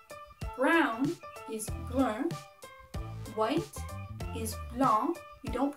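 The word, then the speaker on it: blanc: pink is rose Brown is one white is long you don't pronounce the sea and black is mom good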